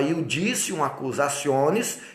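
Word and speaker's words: iudicium accusationis: também iudicium acusaciones tá iudicium escreve-se judicium acusaes então fala iudicium acusaciones que significa juízo de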